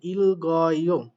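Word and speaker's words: 읽고: এ যেমনটা এখানে ইল গয়, দেখেন এই গিউকটা উপরে উঠে গিয়ে গ, গিউকের সাথে গ এর সাথে অ হচ্ছে গ, আর রিউলটার উচ্চারণ হচ্ছে ইল গয়।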